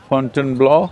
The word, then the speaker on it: Fontainebleau: Sadhguru: Tomorrow morning, I'm leaving for Fontainebleau, is that it? How do you say that? Martin Nydegger: Fontainebleau, hmm? Sadhguru: Fontainebleau.